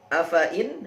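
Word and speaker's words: أَفَإِين: Baik, selanjutnya adalah afa-in, hati-hati 'fa' dibaca pendek.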